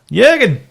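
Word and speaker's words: Jürgen: problem before top one uh yur gir is back oh that's right that's how you say it Jurgen the great man are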